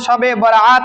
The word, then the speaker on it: শবে বরাত: রজনী বলা হয় যা আমাদের উপমহাদেশের সবে শুদ্ধ উচ্চারণ শবে বরাত নামে লোকমুখে পরিচিত বা প্রসিদ্ধ শবে বরাত সব